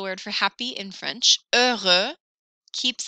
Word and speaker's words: heureux: So happy, the word happy is heureux, which is just the least happy sounding word there is. Heureux, like, yeah, I'm so thrilled. Heureux. But that's the word for happy in French. Heureux keeps its X for masculine plural.